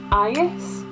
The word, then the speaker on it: agus: There are a few similarities with Scottish Gaelic, so the word and in Irish and Gaelic is the same, it's ayes. However, in Irish you pronounce the G, but there are other different words.